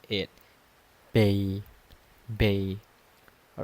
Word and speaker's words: bei: We pronounce it ba ba.